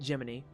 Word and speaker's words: Gemini: Oh, and by the light, even though it says Gemini for us normal English speaking people, um, you pronounce it Jiminy.